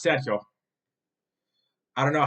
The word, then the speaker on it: Sergio: Sergio but if um if you were to pronounce my name in Spanish it's saido I don't know how